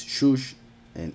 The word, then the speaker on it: Shushan: That's why it's Shush and ends with a Nun, and it is pronounced the whole thing Shushan.